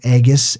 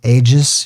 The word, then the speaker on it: aegis: The aegis, ages. You can pronounce it in different ways.